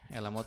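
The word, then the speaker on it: חלמות: Elamot itu artinya mimpi. Di sana ada huruf het yang tidak diucapkan elamot.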